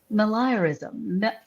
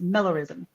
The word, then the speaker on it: meliorism: And it's called malayarism. Malayarism. I even Googled how to say this, y'all, because I didn't know how to do it. But Mellorism, here it is. That's right. It's Mellorism. The belief that the world